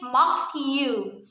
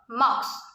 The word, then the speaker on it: mosque: prompting many to say mocks you but the ue is actually silent and the proper pronunciation for mocks is short and simple mocks number 10 said so